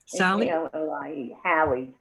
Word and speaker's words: Hallie: your daughter's name ally hallie rhymes with sally but has an h my daughter is my